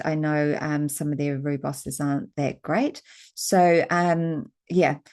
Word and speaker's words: rooibos: Uh rooibos tea, that's how the South Africans pronounce it or rooibos or otherwise also known as red bush.